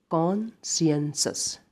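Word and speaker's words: conscientious: अगला जो वर्ड हमारे पास दे रखा है इसको हम सही से प्रोनाउंसिएट करेंगे कॉन्शियंसस, ठीक है, इसे बोलते हैं कॉन्शियंसस, कॉन्शियंसस।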